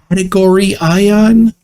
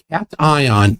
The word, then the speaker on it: cation: He is incorrectly identifying it as category ion. Yeah. Prove it's not Trey. Cat ion is a positively charged ion.